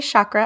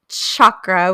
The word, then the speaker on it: chakra: what do you say I say the people who say Shakra are wrong boom tell us how you really feel okay Linguistics let's hear it it is chakra with a hard C like you're saying Cha Cha Cha it's chakra because in Sanskrit that is how it is written it's a hard CH well I'm glad I